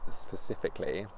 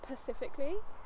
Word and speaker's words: specifically: He normally says Pacifically. Specifically. Look at you specifically.